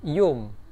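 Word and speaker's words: يوم: Nah, yaumun itu kalau dalam bahasa Mesir dibacanya menjadi yum.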